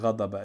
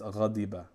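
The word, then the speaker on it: غَضِبَ: So if you go back to ghad, it's actually not ghadaba, it's ghadiba. This should be kasra.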